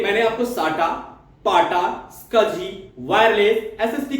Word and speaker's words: SCSI: Small computer system interface, लेकिन इसका जो प्रोनाउंसिएशन होता है वो होता है स्कजी।